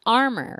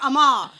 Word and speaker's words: Armour: And our guest today, uh, it's Armor, right? Mhm. That's how it's pronounced like Armor. Like like Armor Hot Dogs.